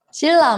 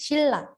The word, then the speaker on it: 신라: 신라가 아니고 shilla. Oke, dibacanya itu pakai huruf real double di bawahnya. Kenapa? Karena kalau N ketemu sama R itu dia bakal kayak kalau di tajwid mah idgham bila gunah ya. Dan mati ketemu sama ra, jadinya didoublein gitu kan ya.